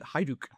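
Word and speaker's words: Hajduk: Uh, recently I learned that I've been saying like Haklit for and I they actually pronounce it Haiduk.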